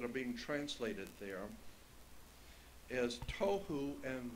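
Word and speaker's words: תֹהוּ: being translated there is tohu and vohu. Pronunciation, it would be T-O-E hyphen W-H-O, tohu. That's not the way it's spelled in Hebrew, but that's the way it's pronounced. T-O-E W-H-O, tohu.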